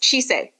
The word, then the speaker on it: Chise: And as for pronunciation, it is Chise.